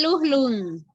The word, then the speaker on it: lujlun: Se dice lujlun. Lujlun. Lujlun. Lleva J, lujlun.